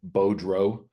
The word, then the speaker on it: Beaudreau: So, so I grew up I grew up in California. and we say we said bodro.